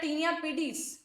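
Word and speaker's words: tinea pedis: ठीक है, फोर्थ होता है टीनिया पीडीज, पेडिस भी बोलते हैं कई बार इसको लोग, टीनिया पीडीज, pronunciation correct पीडीज होना चाहिए शायद।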